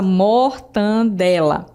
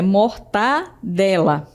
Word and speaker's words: mortadela: Vamos ver mais um exemplo na palavra mortandela. A palavra não é mortandela, é mortadela. Perceberam? Então não tem esse N.